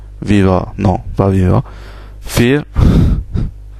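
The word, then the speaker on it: vier: 2, 3, 4, le V se prononce F, 4, 5 pour 5, 6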